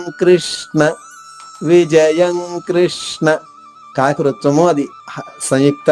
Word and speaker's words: కృష్ణ: క్ర మీరు కృష్ణ అంటే కృ అనగానే పెదవులు ముందుకు సాగాలి క్రి అంటే అంటే పక్కకు సాగాలి క్రి తప్పు కృ తప్పు రెండు తప్పే పెదవల్లో కదలిక రాకుండా కృష్ణ చెప్పాలి. నకాంక్షే విజయం కృష్ణ కృష్ణ చూడండి నా పెదవులు